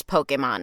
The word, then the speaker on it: Pokémon: early and they didn't know how to even pronounce Pokemon at the time they were doing like different